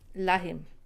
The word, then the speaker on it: lähim: push your tongue on the top of your mouth. Lähim. It's exactly as you want to say like. Can you see my tongue is on top of my mouth? So lähim, like. Very similar pronunciation.